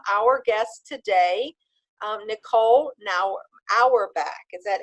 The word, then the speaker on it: Auerbach: delighted to welcome our guest today Nicole now our back is that how we pronounce it yes that's right Oh wonderful so